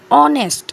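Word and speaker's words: honest: यहां पे एक ऑनेस्ट ऑनेस्ट में एच क्या है वो हमारा कॉन्सोनेंट है सबको पता है लेकिन जब हम उसका प्रोनंसिएशन करते हैं तो एच हमारा जो होता है वो साइलेंट हो जाता है और हमारे क्या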